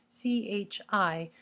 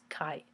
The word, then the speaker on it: chi: X right and it's spelled CH I so you might call it Chi but its pronunciation is Kai and for any Kai